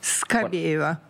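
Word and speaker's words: Скабеева: Et toujours dans l'atmosphère de cette bataille de Bakhmout, dans le show d'Olga Skabeyeva, je prononce bien... Skabeyeva.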